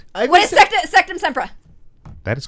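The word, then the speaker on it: Sectumsempra: Ivy What is said- Sectum Sempra? That is correct. Oh, Yes! I That would is pronounce correct. it wrong. Damn. Sectum Sempreza.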